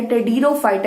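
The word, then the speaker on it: Pteridophyta: जाता है टेडिरोफाइटा का, जिसके अंदर पी साइलेंट है, टेडिरोफाइटा इसे प्रोनाउंसिएट करते हैं।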